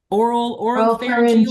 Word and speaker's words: oropharyngeal: Oropharyngeal cancer. Thank Well, you. put the emphasis on either syllable. It doesn't matter.